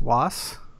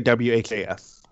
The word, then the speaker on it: WHAS: Do they pronounce it as WAS? No, they always say WHAS.